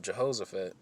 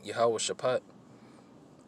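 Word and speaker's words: Jehoshaphat: them down into the valley of Jehosaphat which is a properly pronounced you how worship hot all right which means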